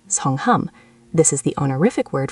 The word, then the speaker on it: 성함: For formal situations, we use a completely different word for name, 성함, pronounced 성함.